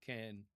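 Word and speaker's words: כן: So when you hear Israelis pronounce this, it's something more like can. See, I tend to make it longer than it should be, but can. Okay, so it's in between those two English sounds if you're trying to use Israeli pronunciation.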